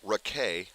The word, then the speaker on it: Raquet: Facing the left-hander Raquet, spelled like racket.